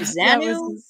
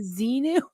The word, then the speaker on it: Xenu: down to mispronouncing the words. So she gets her to say Xenu. Oh my God. Like Xanu? Xanadu? You mean Xenu?